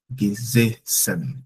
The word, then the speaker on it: gesessen: ja, er hat auf dem Stuhl gesessen. Gesessen. I said gesessen because the first S stands alone, but the second S is double.